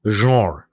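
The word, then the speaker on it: genre: যে মোবাইলে আপনি দেখুন এই ওয়ার্ডটার French pronunciation key, the pronunciation is জঁর।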